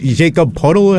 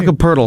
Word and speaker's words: Jakob Poeltl: Jacob Puddle, however you say his name? Jakob Poeltl.